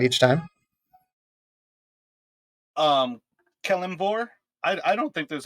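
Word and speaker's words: Kelemvor: name tags you can tell us how you pronounce kilimore uh kellen vor so you know the woman sees the sim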